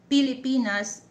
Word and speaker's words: Pilipinas: And then uh Pilipinas, P not F.